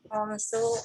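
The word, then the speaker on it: خمس: Kemudian ini khamsu akhwatin. khamsu akhawatin. Ya. Sama ya. Khamsu tanpa tak marbutah. Ini juga ada praktiknya 1 sampai 10.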